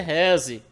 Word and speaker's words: RESE: Pronúncia é rese.